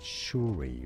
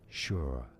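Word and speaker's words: Shure: do you say it well looks like it should be said shy right but no sure sure sure sure okay it is sure it shouldn't be said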